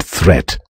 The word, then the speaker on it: threat: Watch out for meat and great and threat. They rhyme with sweet and straight and debt.